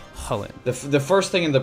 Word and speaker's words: Chulane: Technically, what the name is based off of is some ancient lore, and the character's name is pronounced Chulane, or more like Chulane.